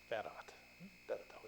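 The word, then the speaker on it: farad: 그래서 읽기는 페럿이라고 읽어요. 페럿하고 읽어요.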